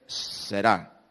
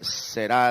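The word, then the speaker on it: Zerah: Y le pusieron por nombre Sará. Pero es Será la pronunciación correcta.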